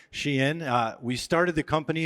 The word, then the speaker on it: SHEIN: million-dollar question which is how in the world do you pronounce Shen and so here we have it Shen uh we started the